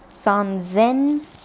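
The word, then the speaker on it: 三千: do that separately this will be read as some Zen which means three thousand and so on so another example of how the pronunciation changes based on the preceding kanji let's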